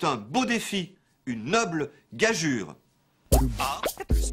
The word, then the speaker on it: gageure: a fait le substantif gageure, qui signifie pari, défi. Il faut donc bien prononcer gageure. Et l'on pourrait ajouter un tréma au U d'ailleurs pour indiquer la bonne prononciation.